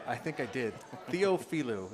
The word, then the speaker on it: Theophilou: Theophilou. It's supposed to be said phonetically.